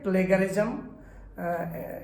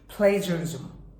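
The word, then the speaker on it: plagiarism: আমাদের দেশে এই ওয়ার্ডটির উচ্চারণ ভুল করে থাকে প্লেগারিজম ইটস is wrong pronunciation is প্লেজারিজম প্লেজারিজম আলহামদুলিল্লাহ আমাদের বাংলাদেশ থেকে অনেক অনেক স্টুডেন্ট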